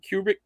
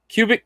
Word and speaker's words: Kubrick: says a stomach stanley kubrick uh i can't say his name right now cubic collection no not cubic cubic kubrick there you go who kubrick you're